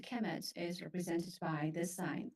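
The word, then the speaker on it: Kemet: uh they will be the noun will be pronounced aemet so so uh Egyptians the writing system have signs that present sound and signs that present uh meaning so in this case sound chemet is represented by this sign I don't you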